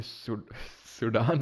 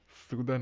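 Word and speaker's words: Sudan: पहले पता चला कि ये सूडान नहीं होता, सूदन होता है, इसको सूदन प्रोनाउंस करते हैं।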